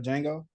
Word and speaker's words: Django: saw the movie Django you said the Django instead of Django you know I am definitely a part of the population that's pronouncing every letter canel a knife he